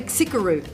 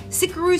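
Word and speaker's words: Xicaru: I would say Sikaru. Okay, cool. Is that how you say it? Well, because he has his story on here. Using my grandmother's recipe, Sikaru Silver is produced in small batches with traditional methods.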